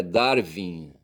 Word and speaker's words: Darwin: A pronúncia em inglês é Darwin.